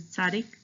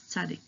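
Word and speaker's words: צדי: bit hard to pronounce this is Sadiq um it's t and Z together like the word pizza so that's uh of the pizza that's Sadiq okay next color yeah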